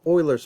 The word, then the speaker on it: Euler: We can get a better approximation using a process called Euler's method. Notice that this is pronounced Euler's method, not Euler's method.